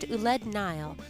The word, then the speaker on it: Ouled Nail: of tradition and folklore pronounced uled Nile they were a Berber